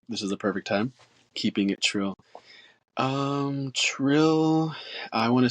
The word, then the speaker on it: keepingitrill: So first, a lot of people really do pronounce it as real, but it's actually keeping it trill. But I didn't want to add the extra T, so I just kept it as is.